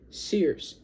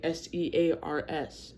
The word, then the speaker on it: Sears: That's how you supposed to say it. Not how you spell it. You spell like s e a rs.